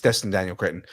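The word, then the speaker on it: Destin Daniel Cretton: I say it wrong thought it was Daniel D Destin Daniel oh you know what it is Dustin Daniel Kinton I'm saying it wrong it's Dustin Daniel Kinton uh and uh Andrew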